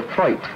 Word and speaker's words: float: The most used tool is the floit, spelled float, but always pronounced in the traditional South Yorkshire way, which is a single